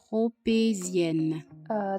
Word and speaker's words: tropézienne: 发音是这样式儿的 Tropézienne。